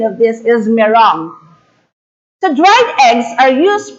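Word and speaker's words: meringue: we pronounce this m-e-r-i-n-g-u-e as but the proper pronunciation of this is merong the dried eggs are used primarily as ingredients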